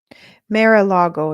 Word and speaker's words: Mar-a-Lago: Mar-a-Lago, yeah. That's how you say it.